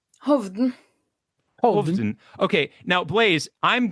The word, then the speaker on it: Hovden: Tell me tell me how it's pronounced. Please correct me. Hoven Hov.